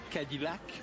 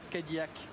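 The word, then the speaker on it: Cadillac: y a quelques instants Jacques Guil parler de Kadilac parce que vous l'avez prononcé à l'américaine. Oui et oui parce que souvent je suis américain du Nord donc j'ai le droit. Je mais ce n'est pas un reproche que je suis en train de vous faire Jacques. Loin de là c'est que souvent sur les réseaux vous nous parlez de prononciation des des mots et dans le cas présent c'est un nom français cadak.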